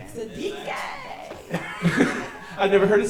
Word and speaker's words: Siddiquee: Siddiquee.